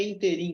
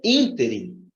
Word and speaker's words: ínterim: E essa palavra aqui não é interim que se fala, é ínterim, ínterim. Portanto, aqui a sílaba destacada está errada. É ínterim, intervalo de tempo.